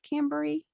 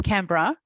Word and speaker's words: Canberra: small town outside of cambrie yeah i'm saying the name wrong you're gonna that's okay it's canberra yeah and i live